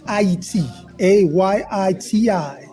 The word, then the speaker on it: Haiti: a Yi TI this is the correct way to say Haiti well we're getting education